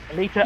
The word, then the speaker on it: Alita: Exactly, or Battle Angel, I can never remember how you pronounce it, Pillar? Alita, yeah, Alita, they didn't do a live act, like, but they that is but they well didn't do known, like a...